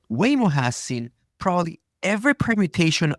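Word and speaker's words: Waymo: the way it's weo wayo I now forgot how to pronounce it weoo weoo wh way is in way yeah wayo so wayo has seen probably every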